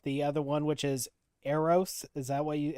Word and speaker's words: Eros: And that brings up the other one, which is Eros. Is that what you how you pronounce it?